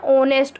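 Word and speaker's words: honest: एंड ये हमारा ऑनेस्ट ओ छोटे ओ औरत वाला ओ से बन रहा है ना, तो इसलिए हमने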